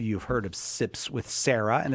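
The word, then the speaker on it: Serra: like Sister Sarah, but like Father Sarah, Father Junipero Sarah. Adrian from Sips with Sarah, thank you very much for being here with us. Thank you for having me. Thank you for clearing up how to say the name. I often get Sips with Sierra, so I appreciate you saying.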